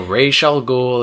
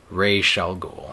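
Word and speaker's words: Ra's al Ghul: what are you doing so rall ghoul it should shall forever be pronounced rall ghoul yeah Harley Quinn numbers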